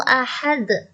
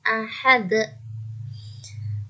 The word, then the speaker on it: ahad: Nanti membacanya begitu ya, ahad, bukan ahad. Ya, itu salah.